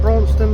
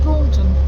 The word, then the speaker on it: Braunston: we've made it to bronston now finally saying it right um we keep saying Bron just about to come